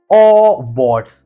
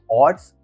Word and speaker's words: Awwwards: Uh check out the website Awwwards. Yeah, that is how they pronounce it. So, there's a legit website known as Awwwards, Awwwards, they call it.